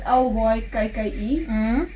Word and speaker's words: Lykke: I just saw a podcast the other day, and I think the I don't know how to pronounce it, the Lykke or Lykke needles. It's Lykke.